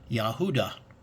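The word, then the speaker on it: יהודה: does not so but the Strong's Concordance gives you the actual phonetic prononciation of Judah which is yahuda okay and so as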